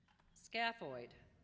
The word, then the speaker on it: scaphoid: Scaphoid, shaped like a boat. Scaphoid. Are there any alternate pronunciations?